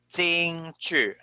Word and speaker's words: 京剧: Okay, one of the Chinese musical traditions is what we call Jingju. Jingju. Jingju. Okay, that's how you pronounce this word.